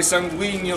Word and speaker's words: sanguigno: Resta il fatto che vorrei spiegare a chi mi volge delle parole solo il dorso, che sanguigno si pronuncia indugiando sulla gn, e tranviere lo si scrive con la n o con la m, e indifferente.